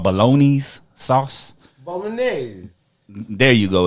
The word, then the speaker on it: Bolognese: Bolognese. There you go. It's Bolognese. I don't know how to pronounce it when I told y'all it was a bolognese sauce yesterday, motherfuckers.